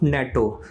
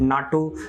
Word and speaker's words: NATO: ठीक है, ये स्टेटमेंट देखिए, expansion and strengthening of नेटो। ना द प्रोनाउंसिएशन में डिफरेंस, सम पीपल में कॉल इट नाटो, नेटो, वो सेम ही चीज़ है, उससे इतना फर्क नहीं पड़ता है।